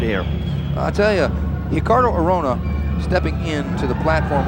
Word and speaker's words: Ricardo: He is Ricardo Arona, and it's actually spelled Ricardo, but the Brazilians pronounce that R with an H sound.